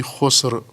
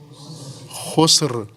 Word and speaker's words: خسر: ہے، ان الانسان لفی خسر، عموماً میں نے دیکھا ہے یہاں مدرسے میں بھی، باہر میں بھی خس پڑھتے ہیں، ان الانسان لفی خس، خس نہیں ہے بلکہ آگے رے بھی ہے، وہ بھی تلفظ ہونی چاہیے، ان الانسان لفی خسر، رے خس نہیں، خسر، رے تلفظ کریں ساتھ۔ انسان خسارے میں ہے،